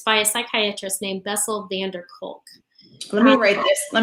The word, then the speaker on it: Van der Kolk: VANDERKOLK. DER Vander. Yes, Vander. It's, I think there are 3 separate words. Van der Kolk. He's from the Netherlands.